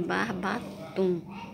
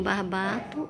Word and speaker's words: barbatum: Barbatum ou barbatum? Escreva assim, barbatum. Uns pronunciam barbato, outros pronunciam barbatum.